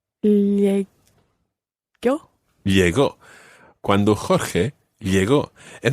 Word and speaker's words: llegó: Cuando Jorge llegue. Not llegué. Llegó.